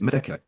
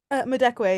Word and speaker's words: Madekwe: People, if people had more fun with Oscar clips, and they should, and actually, and how do you pronounce Medeke? Madekwe, yeah.